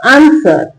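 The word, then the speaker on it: answer: आंसर।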